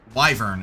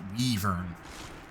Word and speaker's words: Wyvern: This is why it's pronounced Wyvern and not Weavern.